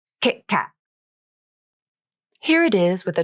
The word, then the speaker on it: KitKat: Here's the stop T in the word Kit Kat. I usually use 2 stop T's in this word. Kit Kat. Can you hear the crisp, abrupt ending to the stop T? Kit Kat.